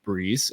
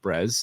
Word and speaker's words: BRĒZ: founder and CEO of Breeze um bz not brez although a lot of people think that's how you say it um but Breeze and um Breeze is